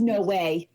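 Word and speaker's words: NOAA: no O A so that concludes it's actually pronounced no way no way no way way no way you're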